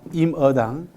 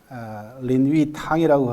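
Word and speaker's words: 林語堂: 임어당이라는 사람이 있습니다. 임어당. 린위탕이라고 하는 그런 중국 발음으로 그렇게 합니다.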